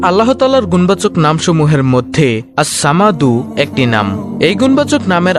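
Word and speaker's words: الصمد: এই যে আল্লাহুস সামাদ, এই আস-সামাদ নামটি হলো আল্লাহর 99টি নামের মধ্যে একটি নাম। আল্লাহর এই গুণবাচক নাম আস-সামাদু এর জিকিরের আমল ও ফজিলত তুলে ধরা হলো। নামটির সঠিক উচ্চারণ হলো আস-সামাদু।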